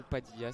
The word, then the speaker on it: Padilla: Ou Padilla, c'est selon. Je la prononce à l'Argentine.